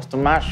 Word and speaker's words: Ostomachion: bueno el estomac o stomach como también lo pronuncian a veces es un tratado matemático